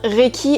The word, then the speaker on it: Reiki: donc déjà premier point recchi se prononce bien recchi et par haïti deuxième